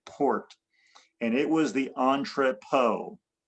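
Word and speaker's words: entrepôt: And it was the Entropo. Entropo is E N T R E P O. Entropo. O T. Put a T at the end. It's French. Entropot or something like that.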